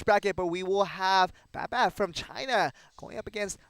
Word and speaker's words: Bab: Bab Bab.